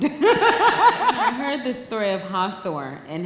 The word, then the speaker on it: Hathora: So, let me see, am I pronouncing this right? HATHORA.